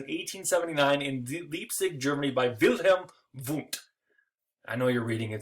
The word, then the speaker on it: Wilhelm Wundt: pronounce their V's as W's and their W's as V's, so it's Wilhelm Wundt! Wilhelm Wundt! That's how you need to remember it.